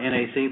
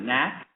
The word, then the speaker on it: NAC: you the next is I think it's pronounced Matt it's not NAC but knack is that correct knack